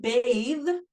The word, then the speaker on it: bathe: wearing it superhero cape so in the word bathe it is making the a long and voicing the th in the word face